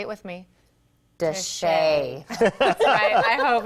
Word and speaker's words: de Chelly: rare photos of Canyon say it with me desha I hope it's right Robert Steve our source